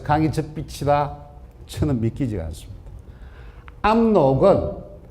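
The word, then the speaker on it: 압록: 암록은 원래 우리 조상들이 야루라고 발음을 했습니다. 고대한국은데요.이 만주말에 그 뜻이나 있습니다. 만주말의 야루를 지변 땅의 변두리를 야루라고 합니다. 근데 암록강을 나타낼 때의 한자는 여러 가지죠. 암록 암록 아로 야로 발음은 전부 다 야루로 발음이 됩니다.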